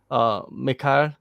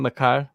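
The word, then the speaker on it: Michał: I watched the first 2 rounds and I felt like Mikhail. Is that how you say his name? Michael.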